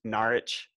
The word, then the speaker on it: Norwich: East Anglia in Norwich, which is Norwich. Oh, I'm. The W is silent. That's cool. Yeah. And the O's an A.